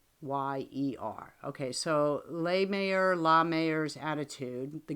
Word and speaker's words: Lahmeyer: His name, I'll give it a try though. Jackson LaMayer. It's LAHMEYER.